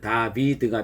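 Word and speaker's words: דוד: 여러분, 다윗을 히브리어로 발음하면 다비드가 됩니다. 우리 음가로 표현하면 디귿, 비읍, 디귿이 첫 번째 자음이 되는 거죠.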